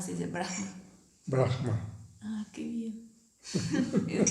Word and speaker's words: Brahma: Entonces, por ejemplo, Brahma no se dice Brahma, se dice Brahma.